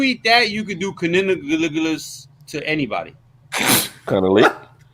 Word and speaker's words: cunnilingus: Just think cunning linguist. Just think like that. You said too many syllables right now. I'm sober. Tired, but sober. Cunnilingus. Shit, now I can't say it. Cunnilingus.